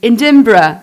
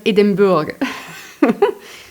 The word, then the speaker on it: Edinburgh: Yeah, because I used to pronounce Leicester to say Leicester. A friend joked one day, Edinburgh, not Edinburgh.